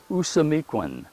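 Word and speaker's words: Ousamequin: was yellow feather and the way he would say his name in his language was usamiquen okay if you go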